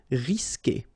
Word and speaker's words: risquer: like E, for instance, you will always need to put this U here between the two, but then you don't pronounce it. So the sound you will get here, for instance, is que. Okay, you don't pronounce the U, so risquer.